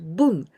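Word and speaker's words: 分: jump sound boom but in the case of the fraction boom su we always pronounce this kanji with boom so here hachi bun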